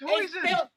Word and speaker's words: hoisin: It's Hoyson. It's spelled Houston.